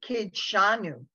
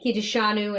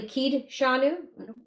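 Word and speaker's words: קִדְּשָׁנוּ: coof yeah kid kid it's really kid shanu exactly but how did we learn it growing up when we weren't reading the prayer in writing we say things like kijushanu and but it's actually kid shanu yes it is but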